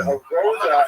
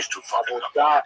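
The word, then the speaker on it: עבודה: The word avoda in Hebrew, avodah in modern Hebrew, or in Sephardic pronunciation, it's hard to translate properly.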